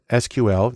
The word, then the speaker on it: SQL: The most common language there is SQL, usually pronounced SQL, which stands for Structured Query Language, because that's where the data is.